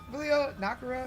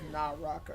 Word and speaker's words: Naraka: Nakura. I feel like I'm saying it wrong. The game that we used to play. Naka. Naka. Okay, I've mixed the I put Nara, but it's Naraka.